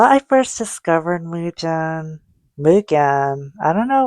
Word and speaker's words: Mugen: And how I first discovered Muen Mugan. I don't know like what's the right way to say it. I think it's mugen, but I think like as a kid I call it muen.